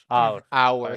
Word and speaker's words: hour: because it's uh sounds uh come uh come uh different well yes the the h is silent so the rule is hour so the rule is